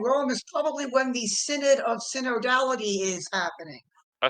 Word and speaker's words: synod: I couldn't figure out if it's pronounced synod or synod or synod or synod. Yeah, no, it's synod.